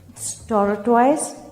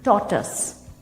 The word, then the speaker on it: tortoise: सो the first one is this, टॉर्टोइज? नो, टॉर्टस, टॉर्टस।